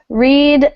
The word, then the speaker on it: read: All 3 are spelled the same, but there's a pronunciation change in the past tense. The long E becomes a short E.